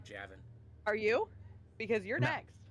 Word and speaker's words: Javin: Despite the spelling, it is pronounced Javin.